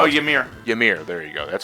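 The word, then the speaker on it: Ymir: worm y m i r is is I pronounce worm Y what y m i r that's how oh yamir yamir there you go that's what it's called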